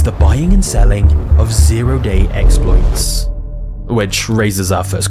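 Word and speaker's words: zero-day: buying and selling of zeroday exploits. Which raises our first question. What the hell is that? A zero day, sometimes pronounced oday, is essentially a flaw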